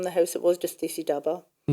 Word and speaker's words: Dhaba: So you mentioned dy daba daba or daba now how it should be pronounced. It should be daba.